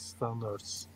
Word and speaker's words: standard: It ends with D, with the sound of D.